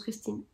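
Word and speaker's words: Kristín: Coup de bol, il y en a une qui s'appelle Christine et ça se prononce Christine. Mais ça s'écrit K-R-I-S-T-I avec un accent N. Et le premier I n'a pas d'accent.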